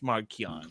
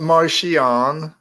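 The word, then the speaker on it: Marchion: Leia that's cool that's cool that's fine it's marquian it's marquian it's not Martian it's marquian bro it's right there CH pronounce it like okay which is funny because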